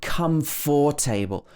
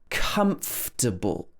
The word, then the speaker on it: comfortable: It's definitely not comfortable or comfortable. It should be comfortable. This chair is very comfortable. This chair is very comfortable, not comfortable.